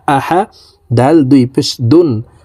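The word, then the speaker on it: أَحَد: জবর আহা জবর হা আহা দাল দুই পেশ দুন আহাদুন তো দালকে এখানে এভাবে থামবো আহাদে নিচের দিকে ধাবিত করে কলকলা করে ধাক্কা দিয়ে উচ্চারণ করতে হবে আহাদে আহাদে কুফুয়ান আহাদে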